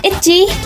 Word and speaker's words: ITZY: So for today, my inspiration is ICY by ITZY or ITZY in Korean pronunciation.